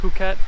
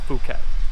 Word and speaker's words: Phuket: and province Phuket and yes it is actually pronounced Phuket not the common mispronunciation Phuket we're staying on kata Beach and today we